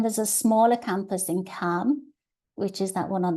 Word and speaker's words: Cham: say and then there's a smaller campus in cam which is that one on the right spelled Cham but pronounced in German's Cam and that's um a